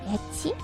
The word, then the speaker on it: ecchi: Anyways, you know the word ecchi? Ecchi, like E-C-C-H-I. That is actually a Japanese pronunciation of the letter H.